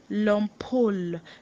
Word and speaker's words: l'ampoule: Your drawer, maybe where you do your assignments, tiroir, and it's spelled Tiroir. Tiroir. Tiroir. And then lastly, we have your l'ampoule, l'ampoule, l'ampoule, l'ampoule.